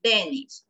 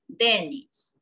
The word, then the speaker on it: Dennis: En cambio, para niño es Dennis. La acentuación está en la D, pero para niña la mayor acentuación está en la I, Denise.